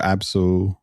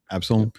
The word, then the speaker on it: Absolum: Absalom, or Absolum, I think is how it's pronounced. Absalom.